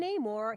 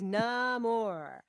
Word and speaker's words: Namor: I think that whole underwater section with Namor, don't call him Namor. He explains su nombre es sin amor, Right. right? He is Namor.